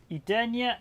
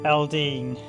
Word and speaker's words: Eldean: looking at albert odyssey legend of edenia or edoleen or let me get the pronunciation albert odyssey legend of elding there we go this is